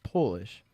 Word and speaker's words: Polish: looked into it, but Polish is the only word in the English language that changes meaning and pronunciation with capitalization. So if you lowercase it, it is Polish. If it's capitalized, it's Polish.